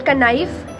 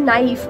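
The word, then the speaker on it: knife: है वो क्या है इज इट क नाइफ इट्स नॉट क नाइफ इट्स नाइफ इसको हम नाइफ बोलते हैं तो ये प्रोनंसिएशन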